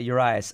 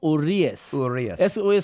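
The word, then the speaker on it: Urías: Let's talk about Urias. I mean, he... Urias. Everyone on Reddit was giving a shit how we pronounce his name. Urias. Julio Urias. You gotta say it in Mexican.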